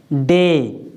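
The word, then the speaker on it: day: DA, बाई, इसको हम क्या पढ़ेंगे, डे।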